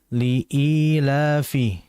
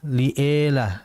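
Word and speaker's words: لإيلاف: Liilafi. Dan dijelaskan pengucapan kasrah pada kalimat i. Jangan sampai lea, liela liila. Jangan yang betul liila.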